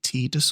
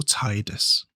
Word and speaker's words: Tidus: Do you say Tidus or Tidus? Because they say his name is said Tidus, but I always pronounce it Tidus because that's just, they never